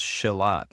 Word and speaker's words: Shilajit: So there's no like real, because it's a Sanskrit word. So Shilajit. I normally say Shilajit. But in Sanskrit, it's pronounced Shilat, actually.